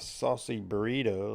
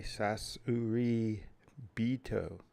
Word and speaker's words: Sasuraibito: instead of saying a saucy burrito like everyone seems to. Ugh, there we go. Is that better? Testing. Yep. Instead of saying saucy burrito, it's actually Sasuraibito. Sasurai. Maybe it's I. Sasuraibito.